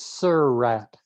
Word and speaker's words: Surratt: picture of a rat next to the phrase "Sir Rat." It's a graphic illustration of the proper pronunciation of the surname of two of the